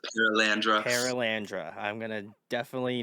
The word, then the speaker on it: Perelandra: clean singer of paralandra that's how you pronounce it paralandra paralandra I'm going to